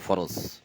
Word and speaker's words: ফরজ: রাজিয়াল্লাহু বলে যে ফরজ শব্দ লাগতে ফরজ বলে, ওটা কিন্তু আসলে ফরদ, কিন্তু কেউ কিন্তু ফারাদ বলে না, বলে ফরজ।